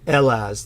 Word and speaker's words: Hellas: language it will say Hellas but the Greeks will pronounce it elas the H is silent to the Greeks and we really get